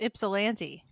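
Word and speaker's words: Ypsilanti: how to pronounce it I think you're right it's ipsilanti because it's YP s i l n TI it's the home of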